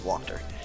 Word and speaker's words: Wachter: I've been saying it wrong this whole time, it's Wachter.